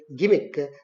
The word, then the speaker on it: gimmick: and g i m i c k is gimmick not jimmy carr gimmick gimmick it should be pronounced as gimmick only and g-n-u-i-n-e is not